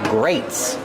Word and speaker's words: grates: These are called grates. Grates. It's spelled differently than grate, but it has the same pronunciation.